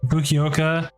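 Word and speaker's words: Fukuoka: with the Giant fuk and then the the fukoka that's how you say it airport Japan underneath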